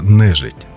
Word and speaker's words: нежить: на нашій рідній мові це називається нежить якщо ми поміняємо наголос то буде дуже цікаво слово не жить і от реніти призводять